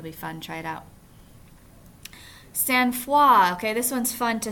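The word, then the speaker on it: sang-froid: head but it's pronounced sanfa must be a French influence here so it's a noun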